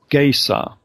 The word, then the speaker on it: Caesar: word for Caesar, because in Egypt they pronounced Caesar with a G instead of a K or a C. So it was more like Gaysar.